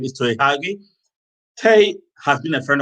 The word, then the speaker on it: Tei Huagie: His name is Tei Huagie, and I asked him how he pronounced his name, but his name is Tei Huagie.